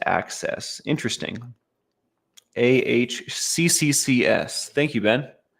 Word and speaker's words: AHCCCS: Arizona Medicaid is pronounced access.